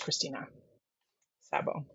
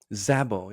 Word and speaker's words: Krisztina Szabó: So as a half Hungarian, you should know that Sz just is S. So in Hungarian, SZ is unit and it's just S. So it's Christina Zabo. Zabo.